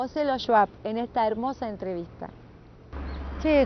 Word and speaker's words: Schwab: Originalmente se escribe S-W-A-B larga. Es el alemán del sur de Alemania, del Volga, donde era mi abuelo. ¿Se pronuncia? De los campesinos. Schwab. Schwab.